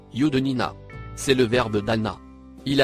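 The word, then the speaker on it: يُدْنِينَ: Il se prononce, Yudnina.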